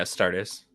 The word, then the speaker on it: Astartes: So we got Abden, the Despoiler, 2 colorless, a blue, a black, and a red legendary Astratus. Is that how you say it? Warrior? Yeah, Astartes.